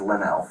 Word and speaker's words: Lionel: It's pronounced Linnell. I know I wrote the it officer right said on this Lionel, page.